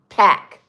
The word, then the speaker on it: Pâques: Pack. Joyeux Pack. It is plural. Okay. Joyeuse. Joyeuse. Oh, I do pronounce that S.